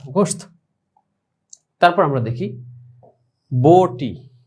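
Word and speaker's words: گوشت: তো সেটার উচ্চারণটা কিরকম হবে, গাফ ওয়াও পেশ গো শিন তা গোশত।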